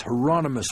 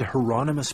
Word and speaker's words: Hieronymus: I said you said Hieronymus Bosch like the painter the second question confused him I don't know anything about any painter but that's his name rhymes with Anonymous I was told weird